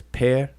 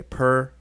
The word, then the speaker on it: pr: this glyph here is transliterated with two consonants P and R and we uh pronounce it as peir some people say per and that's fine uh perir per and then